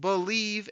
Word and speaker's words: Bleav: It's called Believe in Lions, and that's spelled BLEAV on the Believe Podcasting Network with both myself and Lions legendary safety Benny Blades.